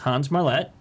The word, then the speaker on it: Hans Marlette: little bit weird and our guest today is Hans Marlette from and I said that right you did